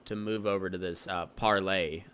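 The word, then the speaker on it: Parler: move over to this parlay it's it's spelled parlor with the e but it's parlay I guess is that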